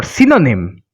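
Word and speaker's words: synonyme: Sympa, the nasal sound But as for synonym, we can see YN or YN. The combination YN is followed by a vowel O. That's why we are going to pronounce the N and not going to pronounce the nasal sound.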